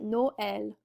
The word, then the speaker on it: Noël: our tréma in there, it's going to become Noël, Noël, or in this case, maïs, which is how we're going to pronounce that.